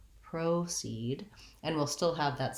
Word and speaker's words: proceed: And in this case, the O actually says the O diphthong in American English. So we're going to be long on proceed, and we'll still have that same clear vowel in the second syllable.